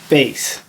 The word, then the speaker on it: bass: Bass. Yes, it has the same spelling as the fish, but in music it's pronounced bass.